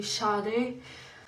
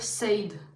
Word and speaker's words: Sade: Oui, je continue à écouter Char, je sais qu'on prononce Char, mais j'ai toujours le réflexe de dire Sade et je